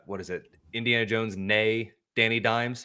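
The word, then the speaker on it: née: Is that like with the the like the maiden name and they do the nay and e? I don't know if that's how you actually pronounce that. I've just seen that before. No, that is that is how you got it.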